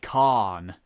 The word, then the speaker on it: can: Because I mean, like, can apparently sounds like Khan.